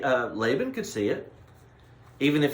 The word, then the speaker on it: Laban: you so so now laban lavon in the hebrew is how you pronounce it but we'll call him laban uh because that's how we're that's how we speak laban is a beneficiary